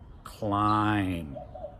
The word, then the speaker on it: climb: We don't pronounce the B. Or in climb.